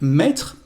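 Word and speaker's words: mis: for more verbs like met to put to write because they've got a past participle irregular the masculine form is me again we don't pronounce the last letter but the feminine form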